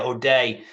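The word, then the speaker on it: O'Dea: deer yeah yeah yeah is that how you say it OD day or dear yeah OD day uh basically calling it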